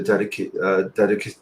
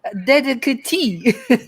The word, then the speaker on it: dedicatee: So I want him to be the dedicacy. I don't know how to pronounce it, but sorry, you were muted. Sorry, dedicatee. Dedicatee, that's right.